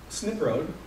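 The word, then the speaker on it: Snipe Road: own benefit for example snip road which is how they pronounce snipe because I was informed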